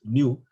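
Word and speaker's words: ν: So the Poisson ratio, nu, yeah, this is a Greek letter, we pronounce it as nu, equals to minus epsilon L over epsilon.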